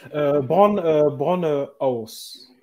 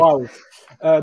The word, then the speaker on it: Bauhaus: Brown House, je le prononce Bauhaus. mal. Bauhaus, désolé, je le prononce mal. T'inquiète. Bauhaus.